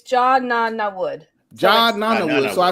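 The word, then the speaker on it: Jod Na Nawood: So it's John Nana Wood.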